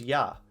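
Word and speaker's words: Я: The backwards R is pronounced as Ya, using a consonant and a vowel.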